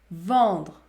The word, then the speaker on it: vendre: Par exemple, si la lettre E est suivie par les consonnes nasales N et M, plus par une autre consonne, dans ce cas-là, vous devez prononcer la voyelle nasale. Par exemple, vendre, vendre.